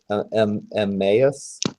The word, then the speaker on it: Emmaus: The other two mooks are gonna just go for how's that pronounced? Is it Emmaus?